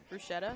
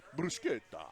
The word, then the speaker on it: bruschetta: It's like arcade bruschetta. Arcade Yeah. bruschetta.